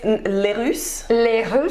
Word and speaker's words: LaRousse: Okay, before we start, I want to practice pronouncing your name the French way. LaRousse. LaRousse. Technically there's an accent on the E, but Americans. Oh, okay. So it's LaRousse.